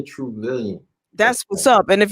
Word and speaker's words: Truvillion: Yeah, and your name is Tobias Truvillion. Yes, you said it right. And Billion, trillion, Truvillion.